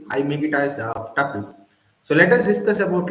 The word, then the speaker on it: tuple: the next one is tle right so some people pronounce it as Tuple so it's up to you guys I make it as tle so let us discuss